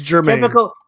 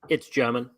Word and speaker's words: German: That's where and that's GERMON, by the way. Yeah. So there you go. Awesome. So the correct pronunciation. Oh my gosh. It's German. Typical me that would mess up the word pronunciation. It's German.